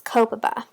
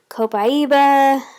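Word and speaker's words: Copaiba: to talk about is coppa ba now I that's how I choose to pronounce it I've heard it pronounced in many other ways you may hear co-pi ebah there's I think there's even one other one that I've heard so if it sounds anything close to this then they're probably talking about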